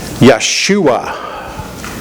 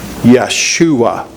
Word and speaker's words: Yeshua: Anybody know the Hebrew pronunciation of Joshua? Yeshua. Yeshua.